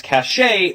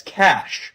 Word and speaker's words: cache: some people mispronounce as cache when it should be pronounced as cash like the money.